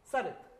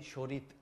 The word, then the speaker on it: Sarit: Sarit. Sarit, yes. Sarit, okay. Actually, my name is in Bengali, Shorit. But now I am Sarit.